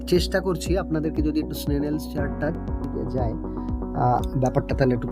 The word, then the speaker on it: Snellen: সেই চার্টটিকে আমরা বলি স্নেনেলস চার্ট। ওকে স্যার একটু বানানটা একটু বলবেন, স্নেনেল বানানটা?